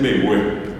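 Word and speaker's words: mbegue: Despacio se dice en bebé. Bé. Y les cuento, es m larga e g u e b es de espacio.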